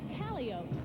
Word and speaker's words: calliope: Plus chimes and bells and special wagons, and of course, the raucous music of the calliope, as the circus people pronounce it.